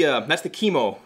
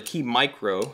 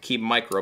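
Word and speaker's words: KeyMo: That's the chemo mount, or the key micro. Keep saying it wrong. The key micro mount.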